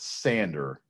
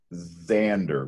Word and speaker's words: Sander: genus this is not sander it's it's it's pronounced zander with z xander vitreous the walleye